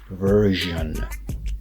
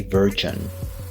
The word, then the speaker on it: version: version is not correct we say version and again we're going to use that CH sound that we use with genre so it's version version make sure you don't pronounce it with a G sound or what will be more of a J sound make sure you don't